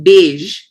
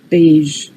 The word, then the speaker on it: beige: The beige, occasion, vision, exposure, usual.